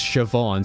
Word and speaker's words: Siobhan: to pronounce that chevy i know that siobhan uh is spelled with a bh and it's siobhan so maybe it's chevy